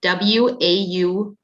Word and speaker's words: Wausau: And I will spell it WAUSAU, Wisconsin.